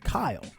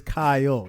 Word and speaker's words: Kyle: It's two syllables. It's Kyle, not one. Kyle.